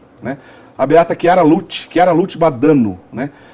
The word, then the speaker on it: Badano: A Lute era a Chiara Badano, ou Badano. Badano. Badano, essa é a pronúncia correta.